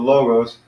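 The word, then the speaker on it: λόγος: gross - two syllables with logos and the accent is on the first one not the second so be the logos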